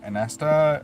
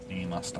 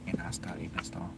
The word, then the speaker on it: Inasta: Anasta, yeah, I've got you on the list. Or Inasta, I should say. Inasta. It's all about the pronunciation.